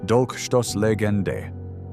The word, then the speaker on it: Dolchstoßlegende: This confusion became fertile ground for one of the most dangerous conspiracy theories in modern history: the Dolchstoßlegende, pronounced Dolchstoßlegende, the stab in the back myth.